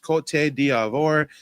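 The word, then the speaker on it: Côte d'Ivoire: Uh yes, Ivory Coast is like you said, it's pronounced cot diavore.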